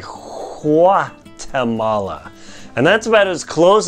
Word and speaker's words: Guatemala: there in the language they don't really say a hard G like we do in English Guatemala instead they say qua Tamala and that's about as